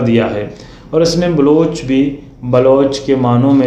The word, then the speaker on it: بلوچ: لفظ بلوچ بھی خود بلوچی زبان کا پرانا لفظ ہے جس کا صحیح تلفظ بلوچ ہے، جس کو فارسی والے بلوچ کہتے ہیں۔ بلوچی زبان میں آج